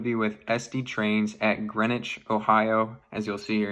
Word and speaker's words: Greenwich: Today, we are headed out to Greenwich, Ohio. That's how that's pronounced. It's literally spelled like green witch. Uh, and then that makes me think of sandwich, but it is Greenwich.